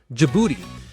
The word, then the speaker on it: Djibouti: Djibouti. First of all, yes, it's pronounced exactly the way you think it is.